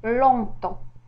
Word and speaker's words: longtemps: au milieu du mot, comme le P dans compter et G dans longtemps, ainsi le P et le S.